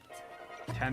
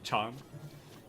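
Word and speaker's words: ちゃん: Tan is for babies who mispronounce Chan. Chan.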